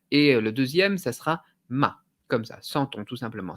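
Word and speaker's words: 妈: évidemment sur le chinois le premier caractère ça sera ma on tient la note est le deuxième ça sera ma comme ça sentons tout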